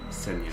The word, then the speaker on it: Ксения: Senya. Senya. Did I say Sonya?